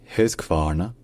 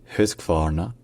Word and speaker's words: Husqvarna: Et enfin, le Q se prononce comme un K.